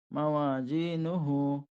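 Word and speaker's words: مَوَازِينُهُ: নুন পেশ নু, মাওয়া জি নু, হাউলটা পেশ হু, মাওয়া জি নু হু, এই যার উচ্চারণটা একটু জিমের মতো হয়ে যাচ্ছে, এটা জি বলবেন।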